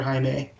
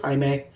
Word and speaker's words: Jaime: He lives in El Paso, and it's spelled Jaime, which I always read as Jaime. Unless it's in Game of Thrones, then it's just Jamie, but that's because George R. R. Martin is weird with language.